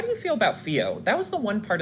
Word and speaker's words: Fio: I really love Fio. Like, it's Fio with an F, right? Mm-hmm. That's so interesting. Not Fee.